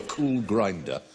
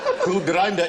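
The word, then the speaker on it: Kulgrinda: are hold on um if you follow a cool grinder where will it get you oh oh oh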